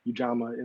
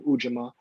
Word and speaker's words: ujima: mother set up uh junior ujama is an americanized pronunciation of ujima which is swahili for cooperative economics one of the principles